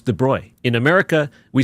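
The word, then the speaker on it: de Broglie: I pronounced it drogly. Is that not right? My high school physics teacher Walt Nazareno uh said right away that first class saying in French it's de Bruy in America we say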